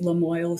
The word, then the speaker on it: Lamoille: Lamoille is the name of the county in Vermont, and people struggled to pronounce it. So I was like, hey, I love a good rhyme. Let's call it Lamoille Soil.